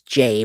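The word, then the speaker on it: Jai: During the uh actual interview with Jay uh with Ja Ja and it's Jay, by the way, Paul, now that we've talked, it's J AI, but it's pronounced J A Y.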